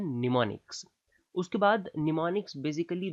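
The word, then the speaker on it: mnemonic: है नीम का वृक्ष यहां पर एवं साइलेंट होता है पर इसकी स्पेलिंग में काम आता है तो इसको हम बोलते हैं निमोनिक उसके बाद निमोनिक्स बेसिकली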